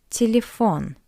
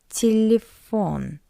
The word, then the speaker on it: телефон: For example, telephone, телефон, телефон. You can see two ye, but we pronounce it as a weak E.